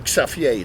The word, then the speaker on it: Xavier: coolest guy in town Xavier was his name safier that's how he pronounce it in Holland and he told my